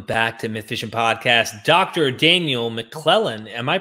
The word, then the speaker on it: Daniel McClellan: Daniel McClellan, am I pronouncing this correctly?